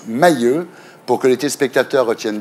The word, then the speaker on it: Mahieux: Mahieu bonsoir bonsoir je prononce Mailleux pour que les téléspectateurs